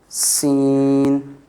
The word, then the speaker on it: س: And this letter, Seen, this is also a whistling letter. Seen, very easy to pronounce with S, just like the word seen.